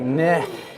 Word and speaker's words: Nik: there we go there we go it's like nick it sounds sounds soft but anyway as i